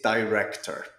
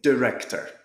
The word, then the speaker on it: director: you're from the eye where I'm from Scotland the UK is a long I sound we say director in some other countries they might say director depending on the accent